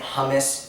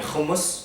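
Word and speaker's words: hummus: Kus first and foremost if you're pronouncing it humus it's wrong you got to get the back in humus okay and all my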